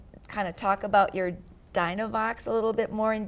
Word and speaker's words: Dynovox: of you that I think I'm going to mispronounce it, but I'm going to try my best. It's a Dynovox? Dynovox, yes.